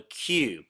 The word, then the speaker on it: queue: now had to wear their hair in a q it's pronounced Q uh which is a hairstyle traditional